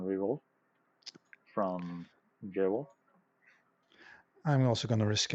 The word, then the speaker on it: JohrolF: And we will be running Chtulie versus JohrolF. Is that how it's pronounced? Correct. Yeah, JohrolF is correct.